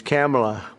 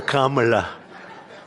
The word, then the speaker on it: Kamala: Cam as opposed to Com.